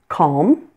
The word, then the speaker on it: calm: Then there are some words in English that may have a silent L, but that you may also pronounce that L. There are two acceptable pronunciations for these words. And here they are. Calm, palm, balm, and almond. Many people do not pronounce the L in these words, but you'll notice that I do. Both ways are perfectly acceptable.